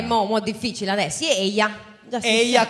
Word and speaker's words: Eia: Eia con la I lunga.